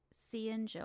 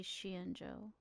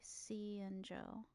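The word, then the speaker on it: Xianzhou: Why do I can never say it right? Cenjo. I always say Shienjo. I need to write it down somewhere so I can actually say it properly. Cenjo.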